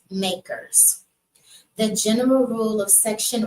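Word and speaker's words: MACRS: accelerated cost recovery system it's commonly referred to by its initials M A RS and pronounced makers the general rule of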